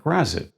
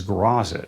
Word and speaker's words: Graz'zt: Gary Gyax, the creator of this demon, said in an interview that grazit was the correct pronunciation. But I still mispronounce it as grazit, a habit I formed in the 80s.